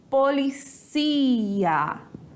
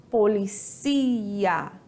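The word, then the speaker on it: policía: então preste atenção aqui em português eu tenho polícia aonde está o porte a sílaba forte é uma paroxítona e penúltima sílaba como sílaba mais forte na língua espanhola nós temos Police ia Police ia aonde está a sílaba forte a sílaba mais forte está na última sílaba ou seja nós temos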